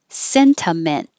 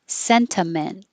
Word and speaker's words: sentiment: dandelion either way dandelion sentiment with a t or no t cena men with a t senta men or sentiment and the same for sentimental